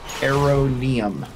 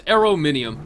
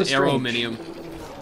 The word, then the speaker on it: Arominium: Yeah, just to finally clear this up, according to the way it's spelled, it would be Aronium. Aronium. It's Arominium. Yeah, it was corrected to me there it multiple is. Yeah, times. You're right. Yeah, it is so Arominium.